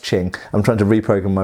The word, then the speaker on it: Qing: I always say Qing because that's how it's written, but I do know that it's pronounced Qing.